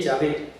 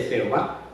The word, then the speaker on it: Yahvé: Por eso la Iglesia Católica tomó la decisión de usar la pronunciación original de Yahé en vez de Jehová. Y porque los israelitas en tiempos de Moisés nunca dijeron Jehová.